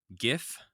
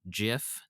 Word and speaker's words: GIF: Upon accepting the award, Will Hite, who invented these things, displayed a 5-word slide that simply read, in all caps, it's pronounced GIF, not GIF.